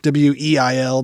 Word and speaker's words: Weil: I feel like that's the more German pronunciation, Weil, but I just mostly call her.